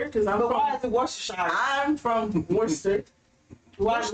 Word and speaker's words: Worcestershire: It is Why? Worcestershire. Worcestershire? Yeah. I watched It's not Worcester because I'm But why from. is it Worcestershire?